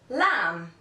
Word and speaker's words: lamb: B is usually not pronounced after an M at the end of the word for example lamb comb thumb too the